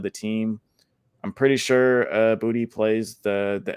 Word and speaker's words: Boutte: Was that how you pronounce the last name, Boutte? Yeah, that boy Boutte about to come through for us.